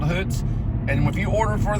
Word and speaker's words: Hoots: don't know but remember it's hoots or hoots h-o-o-t-s hoots is how you say it like hoot hoots wings on the fly